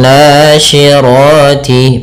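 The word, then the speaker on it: ناشرات: Kemudian nasyirati pada lafal na sendiri ada mad thabi'i yaitu fathah bertemu alif panjangnya dua harakat. Sy hati-hati jangan dibaca si karena di sini huruf syin.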